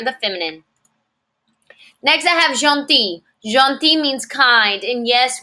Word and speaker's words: gentil: Il est gentil. Mais, but, elle est gentille. Gentille. Listen to that different pronunciation. Masculine, gentil. Feminine, gentille. I have a double L followed by an E, gentille.